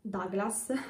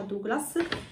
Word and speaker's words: Douglas: Comunque, poi sono stata da Douglas, io l'ho sempre chiamato Douglas, però se non mi sbaglio si pronuncia Douglas, e ho preso un